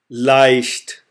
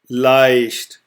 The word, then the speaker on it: leicht: So now we will apply this pronunciation to the following words. So the first one is I. I. That means egg. Leicht. Leicht.